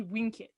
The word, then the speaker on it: vincit: with a v and in latin anything with a v is actually pronounced with a w so it should be winkit and so that got